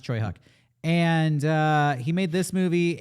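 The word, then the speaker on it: Tsui Hark: director whose name is pronounced, I believe, it's Choi Huk, but it's spelled like Soy Hark. So, but it's pronounced Choi Huk.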